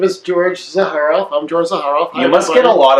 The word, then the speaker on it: Zaharoff: with emza har off sound like pizza so har the car are off like the switch it's a car off